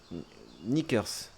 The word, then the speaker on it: knickers: Knickers. On n'est pas obligé de prononcer le cas.